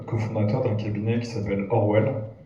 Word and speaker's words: ORWL: d'un cabinet qui s'appelle Orwell ça s'écrit orwl ça se prononce Orwell qui a un cabinet